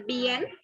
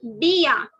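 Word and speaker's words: bien: This is not to be pronounced. Okay, so don't say bn, say bia. B-a. Take the alphabet B-a. Bia.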